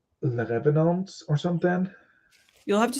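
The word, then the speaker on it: Les Revenants: called Le Revenants, I think. Is that how you pronounce it? Question mark. I think you just don't pronounce the S at the end. So Le Revenant.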